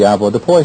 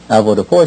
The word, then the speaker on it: avoirdupois: Most everyone's familiar with the avoirdupois system. Avoirdupois, or avoirdupois, however you choose to pronounce it, comes from the French, and it means to have weight.